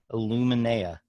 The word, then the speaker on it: Illuminea: to be talking more with Miriam Schwab of Illuminea.